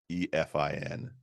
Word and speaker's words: Cynefin: Sure, it does, and it sounds nothing like how it's spelled. Nothing like how it sounds. It's Cynefin.